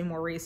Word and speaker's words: Maurice: I'm excited to read I would say Maurice I've been told it's pronounced Morris I can't do that it's